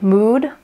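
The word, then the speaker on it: Mudd: So I'm sure you all have seen the Mood, I think is how you pronounce it, the M-U-D-D company and their beautiful needle organization.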